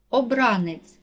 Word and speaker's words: обранець: падає на третій склад обранець наголос падає на другий склад запитання наголос падає на